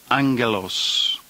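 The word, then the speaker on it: ἄγγελος: is a noun Angelos notice the two gas together have an NG sound Angelos number four is the reciprocal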